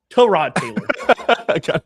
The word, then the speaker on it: Tyrod Taylor: It's Tyrod Taylor.